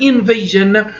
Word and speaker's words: invasion: For example, we have today the word tension, S-I-O-N, we pronounce it chin, or we have invasion, S-I-O-N, we pronounce it jin, both of them.